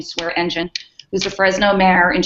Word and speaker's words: Swearingen: The other is Ashley Swearingen, pronounce her name Swearingen, who's a Fresno mayor, and she's running for controller.